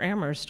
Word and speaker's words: Amherst: But there's a context here, and, you know, we're Amherst, only the H is silent.